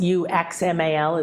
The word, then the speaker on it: Uxmal: And X in Mayan is pronounced sh, like sh. Ishel, Ishel. So Uxmal is Uxmal.